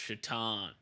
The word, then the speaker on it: Shaitan: It's pronounced Shaitan. Yeah. He's like, it's pronounced Shaitan because he's like Satan.